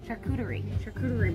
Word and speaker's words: charcuterie: I was thinking, I don't say this word correctly, but a charcuterie board.